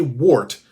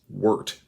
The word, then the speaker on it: wort: it's called the wart now i say wart because it's spelt wart however it's pronounced wort so the next time